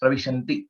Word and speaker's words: प्रविशन्ति: And one more thing, Pravishanti also, it's Pravishanti.